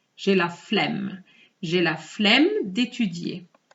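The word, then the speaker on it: flemme: sounds ten times better so here i'm pronouncing the two m's je la flemm je la flem de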